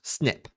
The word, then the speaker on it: SNP: Frequently in genetics, you'll hear a term called polymorphism or sometimes a single nucleotide polymorphism called an SNP which is pronounced snip.